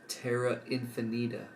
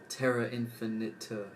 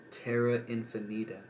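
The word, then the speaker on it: Terra Infinita: real quick I just learned that it is pronounced Tara infinita not um Terra infinite or whatever I just pronounced it as in this clip um Tara infinita yep let's go um extraterrestrial rewards and their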